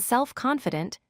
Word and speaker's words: self-confident: In this pattern, we stress the second word. Examples include well-known, meaning famous; well-educated, meaning having good education; bad-tempered, meaning getting angry easily; and self-confident, meaning believing in yourself. Here, the stress falls on the participle or adjective that comes second.